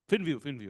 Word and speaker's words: FinView: It is FinView or View? FinView, okay.